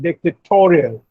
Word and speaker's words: dictatorial: And dictatorial, the stress is on toe.